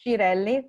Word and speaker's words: Schiralli: And then Ella Schiralli, that's how I'm told it has to be pronounced in American, because it's an Italian name, who is a guide